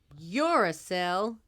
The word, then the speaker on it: uracil: Uracil? Yeah, just think, I'm not a cell, uracil.